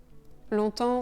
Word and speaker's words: longtemps: Donc on ne prononce pas le G longtemps. Et bien sûr, on ne prononce pas le P et le S final.